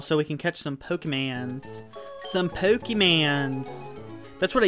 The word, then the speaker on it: Pokémon: secretly I was like oh I know it's pronounced Pokémon I'm ashamed you like to watch soap op